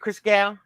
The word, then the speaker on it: Chris Gal: Chris Gal. Is that how you say it, Chris Gal? Yes. Yep. You got it.